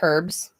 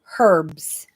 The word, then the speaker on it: herbs: It's It's pronounced herbs because we're in Canada and in Canada we pronounce our letters. It's pronounced herbs.